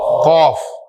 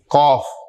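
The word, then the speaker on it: ق: ठीक है, बस कौफ यानी थोड़ा सा पाउच जो है ना वो आपने बनाना है। ठीक, यानी सिंपल जो काफ बोलते हैं काफ, इसे जरा कौफ कर लें, थोड़ा गोल कर दें वो।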